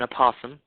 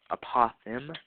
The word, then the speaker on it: apothem: you say po apum not an aoam apoem is what it's called yeah little bit of